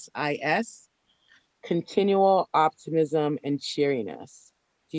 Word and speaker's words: Coreopsis: Coreopus? It's like, I don't know how to pronounce that. It's Coreopsis.